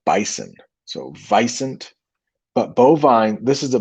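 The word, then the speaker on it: wisent: I know it starts with a W, but it's actually pronounced vicent, almost like bison. So vicent, but bovine, this is a bovine.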